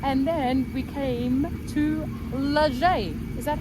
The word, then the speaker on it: Les Gets: And then we came to Leger. Is that how you say it? I'm not too sure. I'm not good with this stuff. It's spelled lizg, but I think it's said leger.